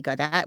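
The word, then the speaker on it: Gaudt: on Facebook and Linkedin so my name Gat which is spelled l s l i e and my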